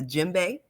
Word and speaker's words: djembe: to say, if I'm saying it correctly, the djembe, Oh, and looks the like you said that affirmation. very correct. Right, correct. Okay, the Yeah, it's very correct. djembe.